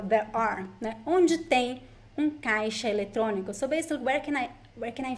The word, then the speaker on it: caixa: An ATM in Portuguese is caixa eletrônico. Very useful phrase for you. So ATM in Portuguese, caixa eletrônico. Caixa eletrônico. The X is pronounced like sh in this word. Caixa eletrônico.